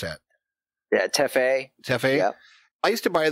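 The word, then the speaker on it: Tefé: the blue in, and do you pronounce them teffies, or how do you pronounce that? Yeah, teffe.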